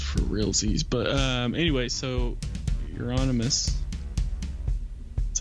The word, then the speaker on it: Euronymous: But anyway, so Euronymous, that's how you pronounce it, right?